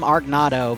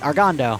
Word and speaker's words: Argondo: that's the first time, I usually call him Argonato, but Argondo, I just realized I've been saying your name wrong for more than 2 years.